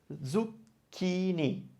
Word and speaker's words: zucchini: But zucchini. That's a chi, C-H-I. And that's what we use for the k sound for ke and ki.